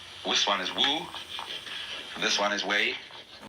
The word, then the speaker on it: wu: So the transitional word, which shows the way from to realize De in one's life, this is pronounced, this one is Wu, this one is Wei,